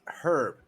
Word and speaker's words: herb: It's herb. You don't live in a house. No, we just invented this weird thing called silent letters.